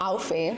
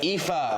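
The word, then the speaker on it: Aoife: It's not Alfie. It's not Alfie. It is EA.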